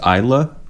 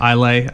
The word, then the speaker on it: Islay: single malt whiskies are produced in oh that's pronounced Isa is that what that note said wow if